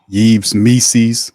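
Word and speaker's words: Yves Missi: defensive player shot blocker yees me rhymes with rees's like DC says and he's a guy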